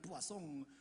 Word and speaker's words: poisson: 아이고, 그러면서 깔깔대고 웃으면서 환자분이 읽으신 것은 포이즌이 아니라 부아송이잖아요. 부아송.